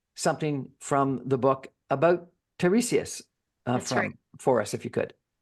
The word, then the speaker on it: Tiresias: Sarah and Tiresias. Tiresias. And you're going to read something from the book about Tiresias for us, if you could.